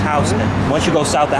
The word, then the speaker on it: Houston: i mean a lot of people think it's houston but it's pronounced housing once you go south of housing you're literally